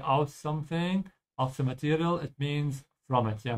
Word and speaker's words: Material: Make sure to pronounce it like the German A with an open A. Open your mouth wide, don't say material. Yeah, it's very different pronunciation. Just make sure you open your mouth twice. Material, but the second A is a bit longer. So stretch it a bit.